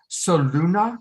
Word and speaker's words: Soluna: Shashi, and do you pronounce it Soluna? How do you pronounce it? That's it. Sol, Luna, Sun, Moon, Light, Dark.